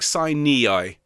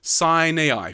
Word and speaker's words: Sinai: one if i'm honest i don't like saini i okay sign niai sounds a bit bit whiny sign ai please sign ai okay fabulous so and